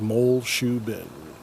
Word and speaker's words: Muleshoe: uh mo moleshu bend so i was pronouncing it wrong it's just mole shoe bin moles so here's a